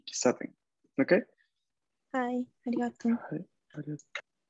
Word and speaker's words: 喫茶店: Kisaten. Kisaten es como un pequeño su y la sílaba sa. Ki, pequeño su, sa y luego ten.